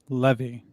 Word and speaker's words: Levy: it like you know their last names pronounced levy eugene levy not leaving debacle manila vanilla vanilla